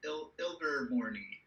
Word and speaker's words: Ilvermorny: Is it like Ilver or is that IL? IL, yeah. Yeah, it's IL. Ilvermorny. Yeah.